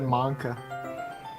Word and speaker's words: manga: But if she's not used to sharing her favorite manga with her friends, I can understand why. Yes, I say manga. That's how you're supposed to fucking pronounce it. No, you said manka.